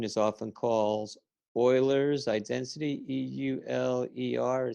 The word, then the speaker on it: Euler: and that equation is often calls Euler's identity EUL er spelled euler but pronounced euler identity and on on everybody's list